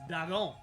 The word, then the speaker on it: Dagon: No, it's pronounced Dagon.